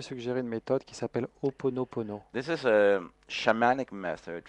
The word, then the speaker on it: Ho'oponopono: I would like to suggest to you a method called Ho'oponopono. Je voudrais vous suggérer une méthode qui s'appelle Ho'oponopono.